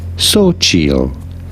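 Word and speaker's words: Xochitl: have to know that the x is pronounced like an S and the t is silent once you know this it's pretty straightforward simply say so chill so so the x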